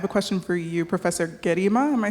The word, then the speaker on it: Gerima: question for you Professor gima am I saying your name right well G hard g g yeah okay thank